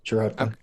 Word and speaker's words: Szarotka: And before I get to the next question, I do want to clarify pronunciation. So the title of your book, Szarotka? Yeah, Szarotka.